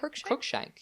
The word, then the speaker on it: Cruikshank: How do you pronounce his last name? I want to create Cruikshank. Yeah. Yeah, like the cat.